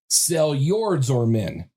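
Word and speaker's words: Seljordsormen: But you spell it S E L J O R D S O R M E N, which literally means the Seord serpent.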